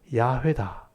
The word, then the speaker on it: 야훼: 그래서 여호와라고 우리가 이름 불렀지만 실제 학자들이 연구해 봤을 때 이 하나님의 이름은 야훼다.